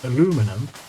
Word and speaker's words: aluminum: It's more the fact that the Americans put the emphasis on the second syllable and the Brits put this emphasis on the third syllable. So Americans say aluminum, and Brits say, well,